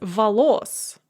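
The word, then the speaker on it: волос: on the first syllable the genitive plural is valos with the stress on the second syllable the data of plural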